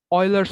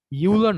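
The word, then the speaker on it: Euler: ইউলার না, এটাকে পরে অয়লার, ঠিক আছে? মানে উচ্চারণ এরকম, বাংলায় লিখলে আরো সহজ হয়। অয়েলার, অয়েলার, হ্যাঁ, অয়লার। এই তো অন্তস্থ অ দিয়ে অয়লার, অয়লার্স ফর্মুলা।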